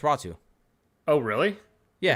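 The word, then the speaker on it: Räty: they got out to ratu who's a second round pickup no it's raw two oh really yeah the Y is pronounced like a u yes oh I did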